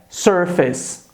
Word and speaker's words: surface: Então cuidado, a pronúncia é face e a outra pronúncia é surface.